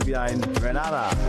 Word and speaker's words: Grenada: I'm from the beautiful island of Grenada, Grenada. So, today, like we Germans say, we are in Grenada. But I heard in English it's called Grenada.